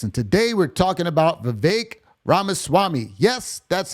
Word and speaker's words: Vivek Ramaswamy: getter of buckets and today we're talking about Vivek ramaswamy yes that's how you say his name I